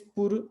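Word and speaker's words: pôr: और इस पुर, और एक वर्ब है पोर, वर्ब है पोर, और ये है प्रीपोजिशन है पुर, ठीक है, दोनों को उच्चारण में अंतर है, लिखने का तरीका बहुत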